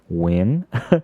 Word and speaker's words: Nguyen: yeah followed me on nuyen Nguyen newgen win it's the right way to say it let's